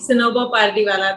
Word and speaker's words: Sanober Pardiwalla: Here I am with the fearless lady herself, Sanobar Pardiwala. Have I pronounced correctly? Yes, Anjali, Sanobar Pardiwala.